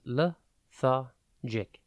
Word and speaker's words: lethargic: today's word is lethargic it is pronounced learic and spelled l e t h a r g g i c think let ha and then GIC before we get into